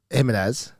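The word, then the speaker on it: Jiménez: ridiculous is that yeah so uh jiminez yes that was just his name why haven't i just got his name wrong there i think the girl the wrong way miguel angel jimenez he has got some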